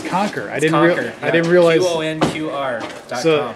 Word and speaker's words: Qonqr: It's Qonqr.